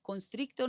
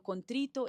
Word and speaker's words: contrito: Constricto, no sé qué sea, pero contrito es como así como humillado, como quebrantado, porque a veces es que pronunciamos mal.